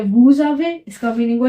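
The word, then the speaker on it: vous avez: इसका मीनिंग हुआ वी हैव फिर क्या है वूज आवे इसका मीनिंग हुआ यू हैव मतलब प्लूरल वाला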